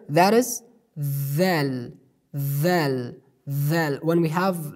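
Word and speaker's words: ذ: So we pronounce it like letter of tha. We pronounce this letter like letter of tha, but with a letter stress. The difference between pronunciation of tha and the pronunciation of dhal is only on stress. We pronounce this letter with stress, with a letter stress, like dhal, dhal.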